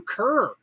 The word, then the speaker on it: Kerr: why he called you kerr everybody i don't understand it either your name was on the screen because k-e-r-r is is pronounced ker it is and there's